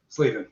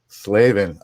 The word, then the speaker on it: Slavin: Slavven. Long a Slavven. Okay. You I've probably pronounced it both ways, but now now I'll remember now that I formally asked you.